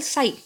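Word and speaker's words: psi: denoted by Greek symbol sign so P is silent here site this is the symbol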